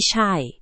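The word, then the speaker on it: ใช่: That would be shy, which means yes or that's right.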